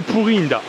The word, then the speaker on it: Puri-Indah: Puri-Indah, voilà, je sais pas si le nom est très rassurant en termes d'hygiène quand on le prononce à la française, mais c'est Puri-Indah.